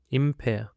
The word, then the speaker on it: impair: That's set, and for the next word, we have got impair. Impair. It consists of two syllables, and the stress is on the second syllable.